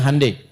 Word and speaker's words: Hyundai: Ya Hyundai saya tahu bahasanya dibacanya Hyundai.